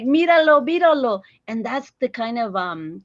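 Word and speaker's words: बिरालो: And you'll be interested in this, Nash, is the word for cat in Nepali is biralo, like 3 syllables, biralo.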